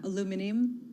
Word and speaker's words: aluminium: we have both aluminum forgive my pronunciation in london i'm doing it the american way i'm in new york copper down by about 1.2 percent as well and commodities down two more broadly yeah aluminium a little i'm not going to pronounce it the british way do you want it